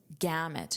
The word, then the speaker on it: gamut: So the normal gamut gamut. Notice that pronunciation gamut. Gamut. The normal gamut of color perception means the normal range of color perception.